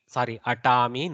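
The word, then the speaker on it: अटामि: Aham atami, atami, no mahaprana. Aham atami, vayam atamaha. Okay, we should not pronounce the mahak prana where it is not there.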